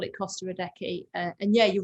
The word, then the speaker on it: Adeje: Well, I've been pronouncing it Costa Adeje. I've just found out that's completely wrong. So good. I haven't been talking to too many people about it, but that's good to know. As you've been there and played it, I'll bow to your pronunciation. Costa Adeje.